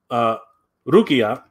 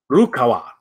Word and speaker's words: Rukawa: We have Rukia. God, I keep saying it wrong. We have Rukawa. That's right.